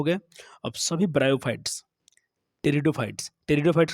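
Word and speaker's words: Pteridophytes: अब सभी ब्रायोफाइट्स, टेरिडोफाइट्स के संबंध में देखिए पी साइलेंट आता है, PTE रहेगा।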